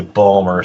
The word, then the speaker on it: Baltimore: We could get into subs like he was confused by the fact that it was Baltimore beer, but when you're from Baltimore, you say Balmer, so that's where he went with the fewer syllables.